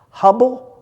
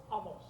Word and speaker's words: Hummel: ago brought up a thing called I always mispronounce it. Hubble. Humble. Hummel. Say it again. Hummel.